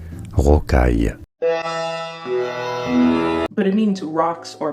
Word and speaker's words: rocaille: For reference, in French, this is said as rocaille, rocaille.